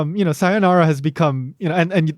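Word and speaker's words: さようなら: situations don't actually use sayonara right or sayonara or that would be something closer to how it's pronounced in japanese but um what are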